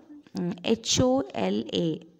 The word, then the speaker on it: hola: Here, H-O-L-A. H-O-L-A is hola. Hola. Hola. H is silent there.